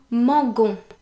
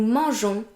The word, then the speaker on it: mangeons: However, if a G is placed before an E, then it's pronounced j.